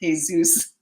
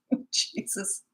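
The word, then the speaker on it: Jesús: And he goes, well, thanks for the compliment, but it's pronounced Jesus. Jesus. It was spelled Jesus. Yeah, I don't have a filtering system, so I make a fool out of myself on a regular basis.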